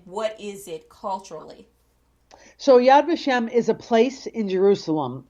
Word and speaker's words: Yad Vashem: bio Yad Vashem, and I hope that I'm pronouncing that the right way. Yad Vashem. Yad Vashem. Okay. So, what exactly does that mean in English, and what is it culturally? So Yad Vashem is a place in Jerusalem, and it is